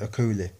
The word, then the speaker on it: Okoli: That's how you say it, Okoli.